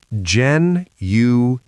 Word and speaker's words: genuine: schedule, schedule Now, genuine. genuine, three syllables. The last part is not wine, it is in.